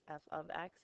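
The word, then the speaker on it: f(x): instead of Y remember that's how you say f of X it's not F parenthesis X or F times X it's F out of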